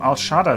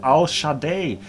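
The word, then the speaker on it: El Shaddai: If you are not fluent in the old languages, you will not understand it, like the name Al-Shaddad is actually pronounced Al-Shaddai, which is the powerful in Hebrew, but in Arabic and Farsi it is Al-Shadid.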